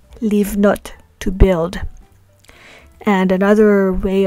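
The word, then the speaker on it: לבנות: So in the examples we have here, we have livnot, which means to build, and the prefix lamed is pronounced as a li, livnot, to build.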